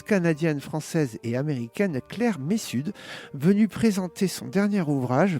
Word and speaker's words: Messud: On dit Messud, on prononce Messud. le Messud, hein, voilà, c'est bien, je voulais pas faire... Mon grand-père disait pas nord, mais sud. Pas nord, Messud. Voilà, c'est en effet une bonne entrée en matière.